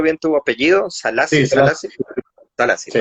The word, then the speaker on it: Selassie: ¿Te estoy pronunciando bien tu apellido? Sí, Salassi, se las...